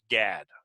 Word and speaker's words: Gad: It's I say Gad because if you were to say the in the pronunciation of it, it was God, G-A-D, and so I would have to distinguish God from God, so that you would know what I was talking about there.